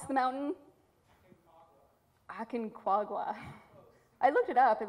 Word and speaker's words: Aconcagua: I meant to ask you how to pronounce the mountain. Aconcagua.